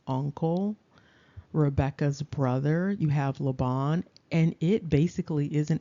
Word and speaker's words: Laban: Now that can also, of course, based upon betacism, be pronounced Lavan or Lavan.